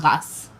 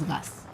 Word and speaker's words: Reims: the RS Cathedral what do you know it's pronounced as gas yeah RS is gas somebody's very French now it's a Roman Catholic